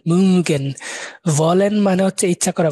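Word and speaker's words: mögen: এটা উটারে উ এভাবে একটা উচ্চারণ করবেন, গুল করে উ, মুগেন।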